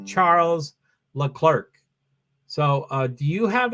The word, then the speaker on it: Charles Leclerc: myself when they say Charles Leclerc so uh do you have an opinion on how to say his name I'm pretty adamant about being charola Claire but I mostly get